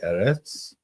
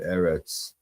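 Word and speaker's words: ארץ: lay the earth desolate, the whole earth, like Eretz. That's often how that word is pronounced, translated, Eretz.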